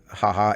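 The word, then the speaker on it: jaja: called hahaha so um in a spanish language when you say haha h-a-h-a um that's english for ha-ha but in spanish it's j-a-j so ha-ha in spanish and uh the sequel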